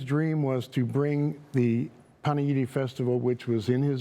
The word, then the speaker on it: Panegyri: First of all, we really appreciate being here and um the fact that you pronounced Paneidi correctly.